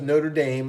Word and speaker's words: Notre Dame: football player goes to Notre Dame note it goes Notre Dame I'm gonna say it right that time gets reds